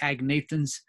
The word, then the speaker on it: agnathans: And if we put an A before, we have, and I pronounce the G, but I call them the agnathans.